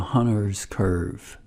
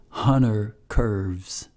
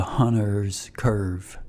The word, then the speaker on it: Hunter's curve: But in the industry, it's called the Hunter's curve, not Hunter curves with an S, okay? So it's there's actually two curves, but it's pronounced the Hunter's curve.